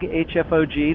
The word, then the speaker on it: HFoG: So, if you're new to me and don't know who I am, I have a YouTube channel called FoG, HFoG. The H is silent.